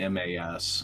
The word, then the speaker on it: Mimas: I said Mimas, are you fucking kidding me? Or it might be Mimas or something. It's Mimas. I'm not very good at pronunciations.